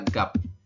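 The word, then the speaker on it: 값: terakhirnya adalah siod Jadi jika ada empat huruf seperti ini maka huruf terakhir tidak dibaca Anda hanya membaca tiga huruf ya berarti anda membaca seperti ini saja dibacanya adalah gap ya bukan gapet tapi dibacanya adalah gap teman-teman bisa ya oke Latinnya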